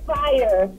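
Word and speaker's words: Phyre: It's Fire. But I guess she didn't want to spell it the regular way, so to be unique, she spelled it P-H-Y-R-E.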